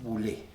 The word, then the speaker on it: Boulet: Hola la audiencia es bul Ahí está porque la ou en francés suena como u y la consonante final no se pronuncia así que sería bule vio que es docente